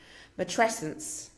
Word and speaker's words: matrescence: Matresence.